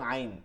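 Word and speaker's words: عين: আইন জবর আ ই একটা হচ্ছে হলকের শুরু থেকে নরমাল আওয়াজে আ উ আর অলকের মধ্যখান থেকে আ হামজা আইন হামজাহ আইন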